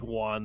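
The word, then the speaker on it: Jhan: he said i'm like he pronounced it like juan though it was weird it's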